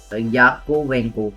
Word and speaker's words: Yakovenko: It was launched on 2020, and it was created by an engineer named Anatoly Yakovenko. Okay, Yakovenko. Okay, Yakovenko it is. See, I have to see the pronunciation because I didn't knew did it.